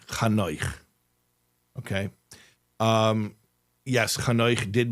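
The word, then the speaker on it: Chanoch: So don't say Enoch, say Kano.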